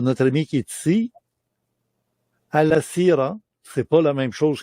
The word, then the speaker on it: Alasira: Au début, j'ai cru qu'on disait Al-Sira et ensuite, on m'a dit ça s'écrit comme avec un I, mais ça se prononce avec un Z.